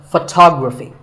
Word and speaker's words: photography: next word is photography we say photograph but photography so the first syllable becomes fa and the stress goes to the second syllable photography so photography in